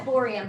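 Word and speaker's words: bohrium: Oh, that's borium. Thorium. Okay. Like for Bohr model.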